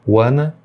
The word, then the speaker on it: wanna: E além disso, ele faz uma redução, que é o wanna, que é a redução de want to. Wanna e want to é a mesma coisa.